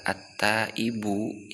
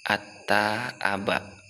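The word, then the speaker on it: التائب: Baiklah, kemudian setelah kita mengetahui ujung harokat dari kata at-taibu yaitu dengan dhammah, selanjutnya bagaimana ketika kita membaca pertengahan daripada kata at-taibu? Kan bisa saja kita membacanya dengan bacaan at-taaba.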